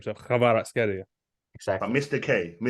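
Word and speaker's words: Kvaratskhelia: But so my Georgian friend said you have to say it as Kvicha Kvaratskelia. Yeah, something like that. Kvicha Kvaratskelia. He says something like that. Kvaratskelia. So you have to put a bit of a growl on it, like an Arabic growl on the surname.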